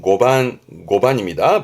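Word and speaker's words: 碁盤: 발음은 고반, 고반입니다.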